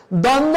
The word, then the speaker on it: দ্বন্দ্ব: দ্বন্দ্ব বানানে প্রথম দয়ের সাথে যে ব রয়েছে এটা উচ্চারণ হবেই না 1 নম্বর নিয়ম অনুযায়ী, যে শব্দের প্রথমে ব ফলা থাকলে উচ্চারণ হয় না। কিন্তু পরেরটাই কি সমস্যা, পরেরটা দন্তন্যর সাথে একটা দ রয়েছে, তার সাথে ব রয়েছে, তাহলে এটা উচ্চারণ হবে না।